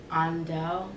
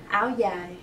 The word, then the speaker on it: Áo dài: About your, in the city, it's andao. How do you pronounce like the actual term for it? Áo dài.